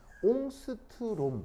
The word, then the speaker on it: 옹스트롬: 이제 스웨덴어인가 노르웨이어인가 그런데 이게 어떻게 읽냐면 옹스트롬 이렇게 읽어요.